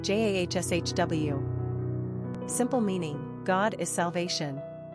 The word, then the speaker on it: Joshua: Pronunciation, Jahshw.